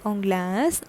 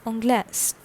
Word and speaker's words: Anglaise: Okay, so the pronunciation is Anglais, Anglaise, Anglais, Anglaise. Okay, next one is Spain, and Spain is known as Espagne.